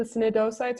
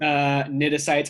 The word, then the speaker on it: cnidocytes: And they have the how do you pronounce the cnidocytes or whatever they're called? Cnidocytes. I think most of the C's are just silent.